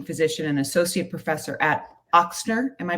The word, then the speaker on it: Ochsner: Following a 20-year career as a gifted teaching physician and associate professor at Ochsner, am I pronouncing that right? Ochsner. Yes. Ochsner, thank you.